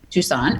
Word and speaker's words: Toussaint: Toussaint.